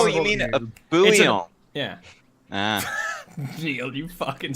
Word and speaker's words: bouillon: It's pronounced like that for you, maybe, but it's French, so it's bouillon.